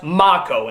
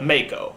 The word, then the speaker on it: Mako: everybody's been telling me that his name is pronounced mocco instead of Mako but to be honest I've heard it both